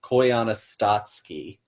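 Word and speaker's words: Koyaanisqatsi: Koyana Statsky. How do you spell that?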